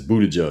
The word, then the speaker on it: Buttigieg: WV said it's Buttigieg.